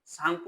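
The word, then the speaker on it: Tsangpo: তিব্বতের সাংপ বলা হয় সাংপ স্পেলিংটা দেখতো কিরকম তিটাকে বাদ দিয়ে উচ্চারণ করতে হবে তো কোন নদীকে তিব্বতের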